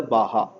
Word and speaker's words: Baja: starting from Baja 2009 though it is a BA GA it is it has to pronounce as a Baja Baja 2009 to the Baja now 2017 is also moving participating in this particular activities.